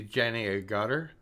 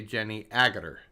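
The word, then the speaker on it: Jenny Agutter: they said united states we put the accent on the second syllable or maybe north america so we see jenny a gutter but they say jenny agather they say there was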